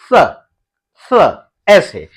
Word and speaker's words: स: उच्चारण आप कैसे करेंगे जैसे आप त बोलते हैं तो त बोलते हैं तो आपकी जो जीभ है आपके दांतों को छूती है तो ऐसे ही दांतों को छूते हुए आपको ये वाले स को बोलना है स ऐसे ठीक है ना तो